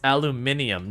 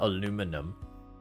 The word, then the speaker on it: aluminium: a total other animal it's aluminium not aluminum the answer is it doesn't matter the the real answer is it doesn't matter both are acceptable yeah no just different different areas have different ways to pronounce it even within countries you'll